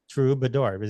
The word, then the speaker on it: Troubadour: the trador Mickey Dolan I know you love true bador am I saying it wrong no you're saying